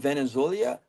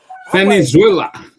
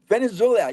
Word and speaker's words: Venezuela: conference we will run Venezolia. Uh I don't know how to say this this country name. I always mess it up.